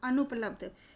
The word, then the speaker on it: अनुपलब्ध: यहाँ पर अन ना के नीचे जो है वो हलंत लगा हुआ है, तो इसका मतलब है आधा ना है, मतलब पूरा ना नहीं इसको प्रोनाउंस करेंगे, इसको आधा ना प्रोनाउंस करेंगे।